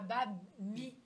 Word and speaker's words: Bami: Bami. Oui, Oh là. Bami. Mais Bami, il y a deux syllabes, c'est quoi qui est Mais là, je compliqué?